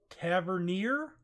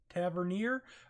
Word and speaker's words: Tavernier: thanks go out to Jay Kennedy it is Tavernier Tavernier all right first off pronunciations is not what I'm in the game